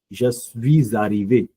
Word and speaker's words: je suis arrivé: So please take into consideration that when I say aller and arrivé, I do pronounce a liaison with a liaison. Je suis arrivé.